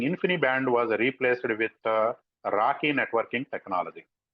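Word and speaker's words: RoCE: x8m the networking infinite band was replaced with Rocky networking technology R pronounced as it is it stands for RDMA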